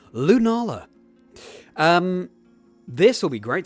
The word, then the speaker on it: Lunala: it's Nala let me try that again completely mispronounced that name lunala um this will be great to practice against